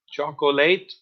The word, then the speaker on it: chocolate: Be careful with the pronunciation of chocolate. Chocolate? No. Chocolate? No. Chocolate. Chocolate. Bread and pasta.